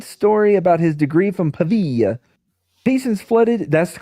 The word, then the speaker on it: Pavia: Meanwhile, the New York Evening Journal and other newspaper printed Brinkley's planted story about his degree from Pavia. Patients flooded. That's the correct pronunciation.